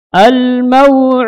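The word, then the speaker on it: الموعود: Ketika kita baca huruf waw yang sukun, sebelumnya apa? Fathah, maka dilinkan ya. Didatangkan sifat waw yang lin, yang lembut. Diucapkan huruf waw dan makhraj dan sifatnya. Sifatnya adalah apa? Ar-raha, mengalirnya suara. Jadi dirasakan suara di bibir tersebut.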